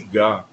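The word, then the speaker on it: ग: Esse gá no sânscrit, ele não é gá de garrafa, de galho, de galhofa, de good, eh, de grade.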